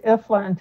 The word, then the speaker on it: Ifland: It's Ifland, just like it's spelled Ifland.